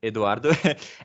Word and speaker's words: Eduardo: name is eduardo uh well we pronounce it eduardo and uh because i am from brazil uh sao paulo and um